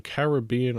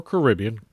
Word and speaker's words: Caribbean: playing a dollar storm Caribbean or Caribbean gold depending on how you want to pronounce it uh 25% progressive slot